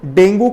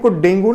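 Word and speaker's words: dengue: जिस प्रकार से डेंगू को डेंगू नहीं बोलते हैं। आम भाषा में आदमी क्या बोलता है? डेंगू हो गया, डेंगू नहीं बोलते हैं, इसको क्या बोलते हैं? डेंगी बोलते हैं। करेक्ट प्रोनाउंसिएशन क्या है? डेंगी।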